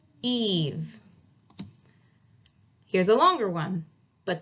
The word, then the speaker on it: Eve: Same with this word right here, E-V-E. This is Eve. So there's a E at the end. There's that bossy E again, yelling at that other E to say its name, Eve.